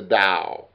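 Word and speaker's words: Tao: ultimate reality is the dao the ultimate reality is the dao and you're going to see and hear that again t a o which means the way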